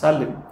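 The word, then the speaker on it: Salem: আমাদের দেশেও তামিলনাড়ুতে আছে, আমরা উচ্চারণ করি সালেম, কিন্তু মূল উচ্চারণটা হচ্ছে সেলেম।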